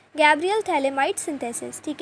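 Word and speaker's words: phthalimide: अब देखो इसकी प्रिपरेशन के लिए सबसे पहला मेथड है गैब्रियल थैलेमाइड सिंथेसिस। ठीक है? पी यहां पे साइलेंट होता है।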